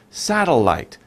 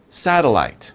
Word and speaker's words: satellite: was a satellite satellite that's a little difficult to pronounce right how many sounds sat till light satellite satellite okay so very quickly